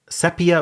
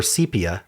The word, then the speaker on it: sepia: suggestion of sepia or sepia, depending on who you are. I've heard both pronunciations. I think sepia is the correct one, but I've heard sepia enough that I think it's becoming a correct pronunciation.